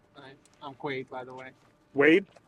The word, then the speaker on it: Quaid: Quaid by the way Wade Quaid Quaid yeah like Dennis Quaid yeah how do you